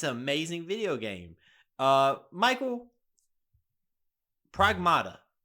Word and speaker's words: Pragmata: Michael, Pragmata. I keep saying it wrong, but I believe that's correct. Pragmata's right. Pragmata.